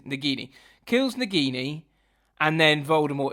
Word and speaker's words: Nagini: the sword and kills negani nagani I can never say her name nagini oh it's nagini kills nagini and then